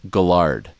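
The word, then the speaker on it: Guillard: to say that but that's a French name another there used to be a fighter named Melvin and his name was g-u-i-l-l-a-a-r-d so that's guilt right in French double he's from New Orleans Double L is is guill but he would call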